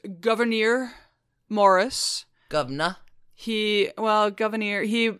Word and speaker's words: Gouverneur Morris: his name AB uh his name is pronounced Governor Morris Governor he well Governor